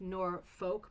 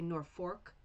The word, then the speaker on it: Norfolk: If you know the area, it's spelled like Norfolk, but people say Norfolk here.